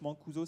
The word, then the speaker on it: Mancuso: sandro mancuso sandro bon ça se prononce mancuso cm à nc uso et là vous avez toute